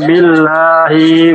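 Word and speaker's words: بِاللَّهِ: Kaifa takfuruna billahi wa kuntum amwatan. Billahi. Hi-nya pendek. Hi-nya billahi itu pendek. Jadi dibacanya billahi wa kuntum.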